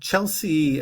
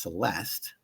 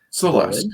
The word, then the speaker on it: Celeste: It's a happy 33rd birthday for Chelsea Bonin, best known to wrestling fans as Caitlyn. Oh, sorry, that's probably pronounced Celeste. Celeste, yes. Celeste, there we go.